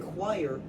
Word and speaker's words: choir: Look, in choir, sometimes CH is pronounced as just K.